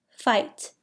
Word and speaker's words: fight: Fight has a silent GH.